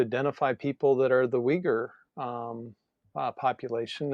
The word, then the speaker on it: Uyghur: So it's pronounced Uyghur, I believe, and it starts with a U. Um, so it's a little counterintuitive to those of us in the West, but Mm, they're a